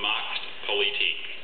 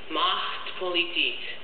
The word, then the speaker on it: Machtpolitik: Macht Politik. May I have the language of origin, please? German part plus a part that went from Greek to French to German.